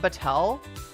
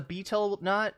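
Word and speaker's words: betel nut: It's actually pronounced like beetle. It's not battel.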